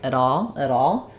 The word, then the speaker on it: at all: What happens here is we link, the T becomes a flap. The first A of at, rather than being a full sound, might get a little bit reduced, so it sounds a little bit more like at all. So I would kind of think about it like this, and then we have the all is stressed.